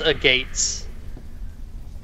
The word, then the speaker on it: agate: gender they were moss agates how many hurry John John done I hate that guy but it's pronounced agate can I do an